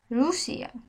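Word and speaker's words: Rusia: আর কে বলে এর রুশিয়া আর এর উদাহরণ রুসিয়া রুসিয়া এর যখন দুইটা আর এক জায়গায় হয়ে যে উচ্চারণটা হয় ঠিক তেমন ভাবে আপনারা উচ্চারণ করবেন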